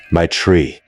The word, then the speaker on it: Maitreya: She told me to pronounce it like my tree."